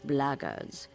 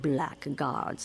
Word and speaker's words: blackguards: another one of those blaggards and that's the way to pronounce it not blackguards like that thug insisted it was then my answer is